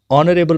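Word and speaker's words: honourable: थोड़ा सा ध्यान रखना है, N portal, an honest, N ऑनरेबल person, an hour, इन सभी का जो एच है ये साइलेंट होता है।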